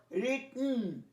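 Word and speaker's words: written: তেমনি বহু ওয়ার্ড আছে পাস্ট পার্টিসিপলটা উচ্চারণ, যেমন রিটন, ইটন, তো মনে রাখবে রিটন, ইটন, হিডন, তো ইটা সাইলেন্ট হয়ে যায়।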